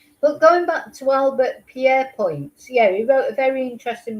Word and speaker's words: Pierrepoint: So Pierrepoint, it's pronounced.